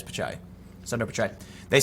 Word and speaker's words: Pichai: Is it Pichai? I thought it was Pichai. Did I spell it wrong? Yeah, it is Pichai.